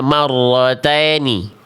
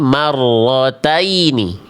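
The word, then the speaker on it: مَرَّتَيْنِ: Jadi jangan sampai dibaca marrotini tapi marrotaini. Marrotaini.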